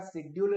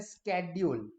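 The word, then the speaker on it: schedule: शेड्यूल लग गया है, शेड्यूल, एज इफ it begins with S एच, शेड्यूल। While American जो है वो कैसे बोलते हैं, स्केड्यूल। क्या हुआ है, स्पेलिंग यही रहेगा, स्पेलिंग में कोई डिफरेंस नहीं है। अमेरिकन क्या बोलेंगे, what is your tomorrow स्केड्यूल, स्केड्यूल क्या है आपका, जबकि ब्रिटिशर्स बोलेंगे शेड्यूल।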